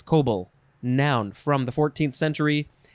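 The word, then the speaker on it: coble: looked like an i so it's uh it's cobal noun from the 14th century a flat bottomed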